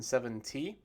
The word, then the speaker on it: seventy: the difference when i say them 17 and 7t it's very tricky actually so the difference is